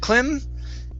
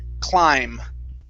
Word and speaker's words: climb: word climb right here instead of klim okay this is an i sound a long i climb okay kim try that